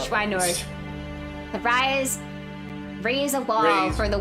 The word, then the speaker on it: Schweinorg: Schweinorg. That's how they pronounce it in the dub. Schweinorg.